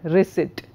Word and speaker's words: receipt: it's dead for example a word like receipt the P is silent so dictionary tells you